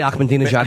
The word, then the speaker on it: Ahmadinejad: I just wanted to say Ahmadinejad and prove I knew his name. I just wanted to sound smart. You pronounced that correctly.